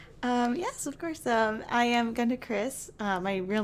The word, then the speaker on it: GandaKris: Hello, my name is Fayaz from Nintendo Players UK, and I'm here with GandaKris. Have I pronounced that correctly, just to make sure?